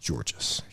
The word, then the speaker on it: Tzortzis: So the last name is spelled Tzortzis, but it's pronounced Georges.